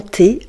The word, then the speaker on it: thé: On utilise souvent du thé vert de Chine. Le thé. Voyez les amis, le H du mot thé ne se prononce pas. Il reste muet.